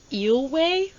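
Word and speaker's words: Eyllwe: Um, this one is eelway. Not going to lie, can't stop thinking about eels now.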